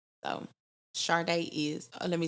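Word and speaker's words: Chardai: um on Instagram my name is underscore Sharday so chardey is let me spell it underscore c-h-a-r-d-a-i that's my Instagram my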